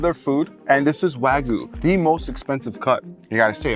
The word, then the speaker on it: Wagyu: And that meat is Japanese A5 Wagyu, the most expensive meat in the world.